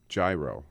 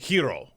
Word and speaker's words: gyro: I thought they were called gyro. No, hero. I never know the correct pronunciation. The correct pronunciation. That's why I don't order hero. It is hero, but it's spelled Gyro.